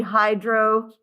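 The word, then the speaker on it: hydrosulfuric acid: Sulfur and phosphorus each need an extra syllable. S and P need an extra syllable. So instead of hydrosulfic, it's going to be hydrosulfuric.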